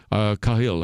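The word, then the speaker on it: Khalil: ion of mmud khili and kahil I is actually how you should say his name and he is here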